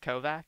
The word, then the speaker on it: Kovac: It's now antiaxer but spelled like Kovac.